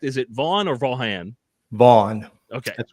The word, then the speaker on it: Vaughan: not mistaken of the Oklahoma Rifle Association Mark vau am I pronouncing that correct is it vau or vanan vau okay that's correct John so what is second